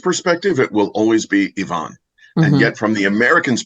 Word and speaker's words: Ivan: the years there's also the name Ivan which Americans say Ivan and yet anybody uh from that part of the world says Ivon and um and yet